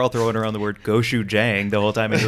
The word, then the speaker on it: gochujang: I mean, it's going to be gochujang, right? I'm so proud of you right now. You said it right.